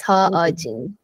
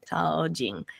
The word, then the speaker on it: Ha Ojin: Yes, his name is Ojin, and his last name is Ha. So it's Ha Ojin. Ha Ojin.